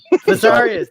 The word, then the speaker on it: Viserys: Visarius, thank you. Hey, the way I pronounce it is not.